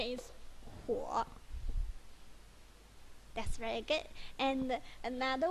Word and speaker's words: 火: Yeah, the pronunciation is 火.